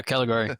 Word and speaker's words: Caligari: pronounce it? Yeah, Caligari.